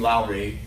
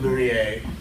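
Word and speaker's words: Lourié: all directed by Eugene Lowry or there what is your pronunciation ler but he was by guarantee you when he worked in Hollywood he's called Eugene Lowry is probably correct who was an an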